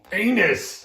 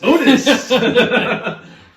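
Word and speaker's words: Unus: Pronounced correctly? Anus. Unis!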